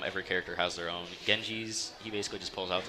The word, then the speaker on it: Genji: looking to do with your ultimate um with Genji that's how you pronounce it um it can be used to